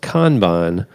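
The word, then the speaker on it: kanban: so he says also it's pronounced kban Japanese technique I use this every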